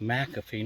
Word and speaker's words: McAfee Knob: And according to him, being a local, it is pronounced McAfee knob, even though it's spelled M-C-F-E.